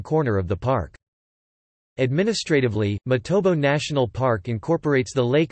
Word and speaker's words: Matobo: The current name Matobo reflects the correct vernacular pronunciation of the area.